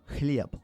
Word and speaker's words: хлеб: The E and the L are the E is similar in the English language, but in Russian it's pronounced ye.